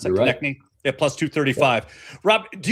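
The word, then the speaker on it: Konecny: And Travis Konechny, right? That's how you pronounce that? Konechny at +235.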